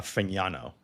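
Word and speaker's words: Fagnano: Can I just shout out Bruce for correctly pronouncing uh Fano the like the the gn the yin yin sound which is an Italian feel.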